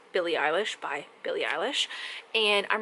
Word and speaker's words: Eilish: i do you like billy eyelash that's not how you pronounce it it's eilish but you know jokes